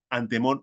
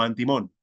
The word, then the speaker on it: artimón: Pues bien, los cabalistas escriben artimón y pronuncian antemón o antimón, vocablo tras el cual esconden el nombre del tema de los sabios.